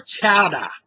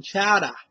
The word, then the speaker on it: chowder: Or chowder, You see, you don't pronounce the R in chowder. You know, like chowder.